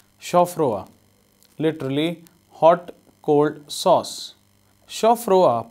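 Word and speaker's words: chaud-froid: Chaufroa, pronounced chaufa, refers to a brown, green, red, ivory tinted or white sauce, so named because it is prepared hot and served cold.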